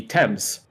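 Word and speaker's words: Thames: think like there's a there's a river that's spelled t h mes that I'm pretty sure in the states is pronounced the themes but obviously in the UK that would be temps TS yeah yep yeah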